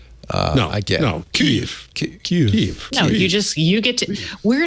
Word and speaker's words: Kyiv: the other, Kyiv or Kiev. I get it. No, Kyiv. No, you get to. We're in a position to educate people. Yeah, Should we? Okay, we should be the people who say it right.